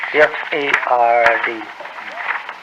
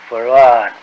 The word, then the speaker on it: Fard: Farad, F-A-R-D, F-A-R-D. Fard. Muhammad. Mr. Yes. Fard, you say? Well, that would be the F-A-R-D? pronunciation in English, but we in the Arabic yes, it's Farad.